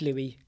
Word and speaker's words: Louis: there Louis so Louis is it Louie yeah it is Louie is it Louis or